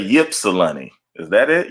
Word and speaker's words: Ypsilanti: If one of those words is silent, but I'm gonna say Ypsilanti. Is that it? Ypsilanti, Michigan.